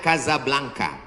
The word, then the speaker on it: Casablanca: Ibu kotanya tulisannya Casablanca. Cara bacanya Kazablanca.